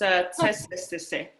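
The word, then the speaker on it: Tsétsêhéstâhese: I'm still learning how to say it too, so no worries, but it's tsestese.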